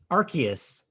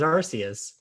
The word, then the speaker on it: Arceus: it's arceus no the the video pronounced it with a hard c arceus yeah by two vowels yeah weirded me out too i was like arceus it's arceus i always read it as arceus because it's followed by